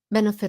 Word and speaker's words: benefit: Không phải là fit. It's a short I.